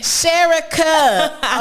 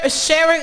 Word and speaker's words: Sherika: was like yeah cause i kept saying sharing i said sharon's gonna be on the she said sherry cut i said okay